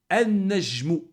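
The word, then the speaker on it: النَّجْمُ: Najmun an-najmu. Hein, on prononce, hein, pas le lem, on a vu la règle. An-najmu.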